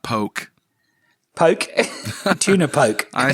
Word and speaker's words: poke: Yeah, it's a Hawaiian word, poke.